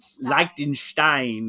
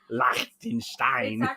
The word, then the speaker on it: Liechtenstein: might be in here like likenstein have been corrected by my daughter Liechtenstein German y okay I did not